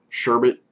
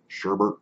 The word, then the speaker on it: sherbet: the exhale even though it is a sherbet sherbert whenever you guys want to call it I always grew up calling it sherbert but it is spelled sherbet so you don't get